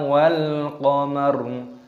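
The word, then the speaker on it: والقمر: Kalla wal qamar. Lam alif, lamnya ini ditasdid dulu baru dipanjangkan matnya. Kalla wal qamar. Alif lam qamariyah, lamnya sukun dibaca wal qamar.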